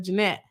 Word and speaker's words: Jeanette: In the videos, defendant Vasquez and Martin mocked Attorney Braun by mispronouncing her name as Janet instead of Jeanette.